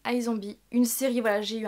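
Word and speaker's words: iZombie: en terme de série c'est isombie ou i zombie mais il me semble que ça se prononce i zombie une série voilà j'ai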